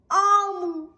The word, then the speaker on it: Omu: Note to the reader, Omu pronounced Omu is the Igbo term for queen.